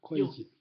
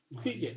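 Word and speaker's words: 會稽: 회계. 예. 그거는 우리가 회계장부라고 하는 말 쓰잖아요. 예. 이게 회계거든요. 그냥 우리는 회계라고 발음을 하거든요. 회계라고 발음을 하는데 중국 발음은 이건 콰이지라고 발음해야 돼요.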